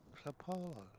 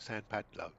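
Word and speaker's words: São Paulo: So, and it's not San. It's SAO. Sao Paulo. Sao Paulo. Sorry. Yep. Yep. So there we are. For the last 72 years, I've been pronouncing that totally wrong because I've always called it San Padlo, but it's not. It's Sao Paulo.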